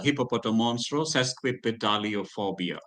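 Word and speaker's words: hippopotomonstrosesquippedaliophobia: Hippopotamonstro sesquipedaliophobia. Hippopotamonstro sesquipedaliophobia. Come on, Saraswati. Hippopotamonstro sesquipotalio Phobia. podalio phobia. Phobia. Yeah, only that one part you are not getting it correct. Yeah. Sesqui, sesqui, sesqui, Sesquipedaliophobia.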